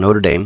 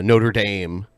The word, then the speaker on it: Notre Dame: I guess it's like it's one of those things where like you pronounce it the way the people in that region pronounce it, I guess, and that's Yeah, how I'm people from in New Indiana.